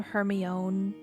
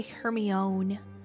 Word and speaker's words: Hermione: My dad when my dad used to read Harry Potter to me he would say her name her own her one. Yeah. Her he used to say Hermione.